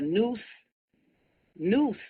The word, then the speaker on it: Neuse: Found stuff in a suitcase along the Neuse River. But it's not spelled Noose, it's spelled Neuse in North Carolina.